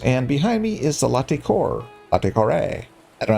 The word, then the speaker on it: Latécoère: I'm and this is Stormworks, and behind me is the Latecoere.